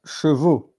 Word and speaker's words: chevaux: Cheveux is not chevaux. Chevaux is the plural of cheval, and cheval is horses. And so it's really interesting and important to well pronounce it. You say cheveux for the hair and chevaux for the horses.